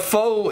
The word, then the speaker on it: Pho: But Pho is like a soup. And it's pronounced Pho, so I guess it doesn't Is it really called work.